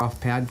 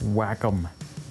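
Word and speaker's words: Wacom: You need a new off pad. Would you get on that? Oh, it's pronounced whack-em.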